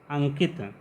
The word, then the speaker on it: अंकित: लोग कह रहे हैं यहाँ पर अनुस्वार का उच्चारण का खा गा घा इंग्या की तरह हो रहा है, इसलिए यहाँ पर अनुस्वार के स्थान पर इंग्या।